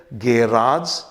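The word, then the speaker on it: garage: कहना चाहिए सबेट क्लियर लेकिन कुछ शब्दों में एजी आज भी हो सकता है कुछ शब्दों में इज भी हो सकता है जैसे गेराज एंड गैरिज अगर आप इस तरीके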